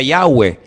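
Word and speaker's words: Yahweh: forman cuatro letras y verdad ese nombre se pronuncia yahwe Ese es el nombre que aparece en el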